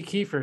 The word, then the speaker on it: Kieffer: a very special guest today i've got kiefer did i pronounce your name last name correctly you did